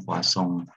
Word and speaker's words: Poisson: Jadi nulisnya itu Poisson gitu ya, S-nya 1, gitu ya. Tapi bacanya Poisson karena dia dari Prancis katanya gitu ya.